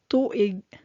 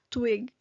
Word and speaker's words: tuig: So some of you might read this word as twig or twig, but this is read as tu-ig. So the first syllable is tu, and the second syllable is ig.